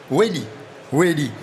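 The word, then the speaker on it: Wailly: On prononce comme ça, Michael? Wally ou Welly? Welly.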